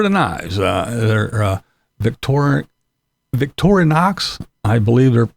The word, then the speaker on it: Victorinox: so these are the knives uh they're Victor Victorinox I believe they it's pronounced but yes I got those I have